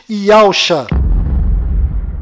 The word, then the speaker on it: Yahusha: A pronúncia do nome de Josué deve ser Yahushua, e a pronúncia do nome do Messias é certamente Yahusha.